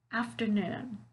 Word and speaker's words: afternoon: a little bit tricky afternoon afternoon can you hear where the stressed syllable is it's at the end of the word right afternoon noon so